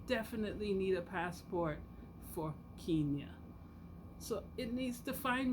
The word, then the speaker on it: Kenya: I didn't know I was saying it wrong all the time. I was just calling it Kenya. The person told me, no, I would like to invite you to Kenya.